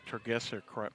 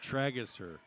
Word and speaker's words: Tragesser: Maybe I could say Tergesser correctly if I had new glasses. Still didn't say it right. Yeah. Tragesser.